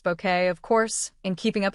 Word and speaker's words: Bucket: However, it was the 1990s that introduced the world to Hyacinth Bucket, pronounced bouquet, of course, in Keeping Up Appearances.